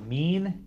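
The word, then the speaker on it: mesne: up does that mean yeah it's pronounced mean you know this miss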